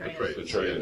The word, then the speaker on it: Petraeus: Petraeus, Yeah.